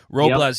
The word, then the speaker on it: Robles: Robles, yep.